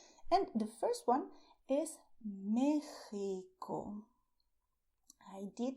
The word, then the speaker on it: México: You can say Mexico, soft, with your throat, or a little stronger, also with your throat. So, Mexico. But you do not say in Spanish, Mexico. This is not correct. Okay? So, if you go to Mexico, do not say this. Okay? Say Mexico. And stress the Mexico.